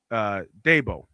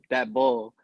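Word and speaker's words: Daboll: So, Kevin PRF, it's pronounced Dabo, right? Dabo. Brian Dabo. Yeah. Yeah, Dabo. Yeah. Well, I can pronounce. Just give me I a mean, second. you Philly, it sounded like you said that bull.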